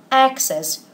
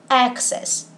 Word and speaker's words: access: but in both cases we pronounce this word access with a stress on the first syllable so remember that there's